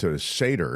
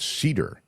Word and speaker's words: Cedar: think is not appropriate Karen says it seder and I was calling the uh little sweet goat cedar because it's c d a r trust my pronunciation you